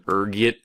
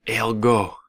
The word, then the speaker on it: ergot: There's a few different ways you can pronounce it depending on your social standing, ranging from ergit to elgo. Being the disheveled pauper I am, I prefer ergot.